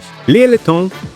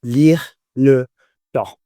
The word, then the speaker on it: Lyre Le Temps: Lyre Le Temps, also known as LLT, are one of the leading voices in the world of swing hop and electro swing.